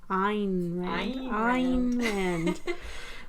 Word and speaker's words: Ayn Rand: We looked up this pronunciation. Ayn Rand.